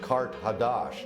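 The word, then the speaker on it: Qart-hadasht: Carthage, in the ancient language, is pronounced Kart Hadash, and that means new city.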